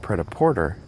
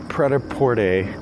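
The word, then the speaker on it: prêt-à-porter: no I'm reversing myself I'm gonna pronounce it the French Way so with Sam but with Sam the pret-a-porter discussion not only hinged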